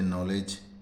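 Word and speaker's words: knowledge: पर के साइलेंट है जैसे नॉलेज तो यहां पे के साइलेंट है तो आज की वीडियो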